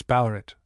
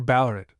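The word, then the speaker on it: Ballarat: have forgotten, namely that the original and native name was Ballerit or Ballerit, which was the pronunciation then and for some years after. But our English way is to put the emphasis on the first part of a polyelabic word.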